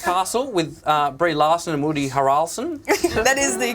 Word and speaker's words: Harrelson: You weren't in White Man Can't Jump, but you were in The Glass Castle with Brie Larson and Woody Harrelson. That is the correct pronunciation.